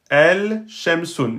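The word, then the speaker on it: الشَّمْسُ: Mais avec la règle qu'on a, on a dit que la lettre chine, c'est une lettre solaire. Elle n'accepte pas que le lem soit prononcé. Donc le lem ne portera pas de soucoun. Et on va mettre une shedda sur le shin, sur la lettre qui suit l'article.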